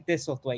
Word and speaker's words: Thistlewaite: also got and I hope I think I said your name wrong but can you please introduce yourself to the people yeah it's kind in thisle way you almost got it I almost got it